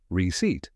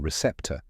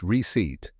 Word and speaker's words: receipt: coffee clothes or groceries did you know the p in receipt is silent that's because the word comes from the Latin receptor meaning received the silent